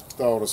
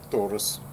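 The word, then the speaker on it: Taurus: А теперь Давайте попробуем тас 605 тос будет правильнее произносить который достаточно небольшой компактный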